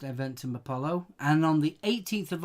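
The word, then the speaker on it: Eventim Apollo: 17th of October London eventum Apollo I think it's pronounced event in Apollo and on the 18th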